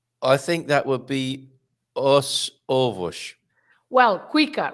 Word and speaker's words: os ovos: I think that would be os ovos. Well, quicker, right? Os ovos. Os Os ovos. ovos. Oh, If you because say it's os two ovos, vowels. Yes. because you Os ovos.